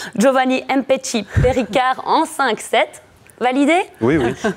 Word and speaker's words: Giovanni Mpetshi Perricard: Le Liégeois a commencé son tournoi en dominant le Français, attention pour la prononciation, Giovanni Mpetshi Perricard en 5-7.